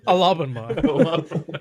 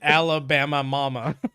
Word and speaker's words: Alabama: of the state wrong it's alaba alabama yeah you added like a sacral second like you made it you made it alabama mama yeah no no it